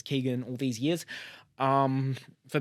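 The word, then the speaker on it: Keoghan: 6 of course Barry keown which I've apparently been mispronouncing is Keegan all these years um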